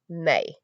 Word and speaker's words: me: Is written m e, but is pronounced may.